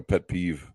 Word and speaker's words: pet peeve: beef that they have no no peef peef you know that they getting angry at Beef is the other one like a like a pet peeve yeah pet peeve oh okay so I pronounced it wrong go ahead um that